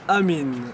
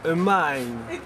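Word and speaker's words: Amine: Je m'appelle Amin. En anglais, c'est Amin. Amin. Comment ça s'écrit, s'il vous plaît?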